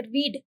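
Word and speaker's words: read: की बात करते हैं तो यह जो शब्द है रीड इसकी स्पेलिंग सेम रहती है that is आर ई ए डी रीड बट इसकी जो प्रोनंसिएशन है प्रोनंसिएशन चेंज हो जाती है दैट इज रेड तो रीड पढ़ा जाएगा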